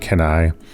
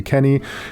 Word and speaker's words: Kenny: I always pronounced it Kenai in the 90s when I originally played this game. I don't know why, but I pronounced a lot of funny things like strangely back then.